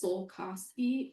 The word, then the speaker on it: Sosi: My last name is Sosi. It rhymes with cold coffee.